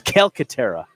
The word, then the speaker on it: Calcaterra: it's not a soft C. No. It's Calcaterra. Yeah, that's what I said.